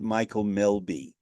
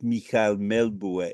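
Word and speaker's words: Mikael Melbye: longer singing in English we would pronounce it Michael Melby in Danish it's mik melbu m-b ye and Michael as I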